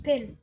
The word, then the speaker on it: poêle: On a chacun sa façon de prononcer. Ah moi je dis une poêle. Quand tu regardes au sud, une poêle au sud. Moi je dis une pelle.